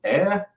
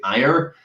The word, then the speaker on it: Ayr: They then presented me with a second option, which was a place called Ayr in Scotland. I know you guys pronounce it Ayr, but it's pronounced Ayr.